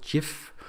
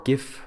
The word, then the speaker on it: GIF: So the animation files in the Ortho system is a file extension called GIF or GIF. It's pronounced both ways, GIF, and it's an animation file format that is literally supported by pretty much every computer in the world.